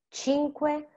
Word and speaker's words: cinque: Luce, faccia, and cinque have that TS, CH kind of sound, and it's because there is the C plus I or E.